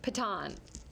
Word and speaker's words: piton: do That's actually pronounced piton. Piton.